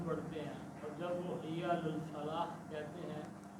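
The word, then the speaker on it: حي على الفلاح: علی الفلاح کہتے ہیں وہ آخر میں ہا نہیں بولتے، وہ سیدھا ہی کہتے ہیں حی علی الفلاح، بس ایسے ہی ختم کرتے ہیں۔ جیسے قاری حضرات آخر میں ہا بولتے ہیں، ان کا تلفظ ٹھیک نہیں ہے۔ اس آدمی کے بارے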